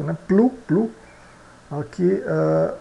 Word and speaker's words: plus: ã aqui e também o s final não é pronunciado né plu plu aqui aqui e long